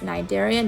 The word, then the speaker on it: cnidarian: a cnidarian yes see is silent so it's pronounced cnidarian not committee area nor cnidarian it's called the